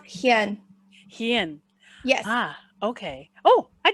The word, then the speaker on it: Hien: people will be too yeah it's pronounced hyen yes ah okay oh